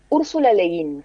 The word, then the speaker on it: Úrsula Le Guin: Úrsula Le Guin, Ahí está. se escribe Úrsula, Le y sí, Guin con Guin. así como suena, digamos.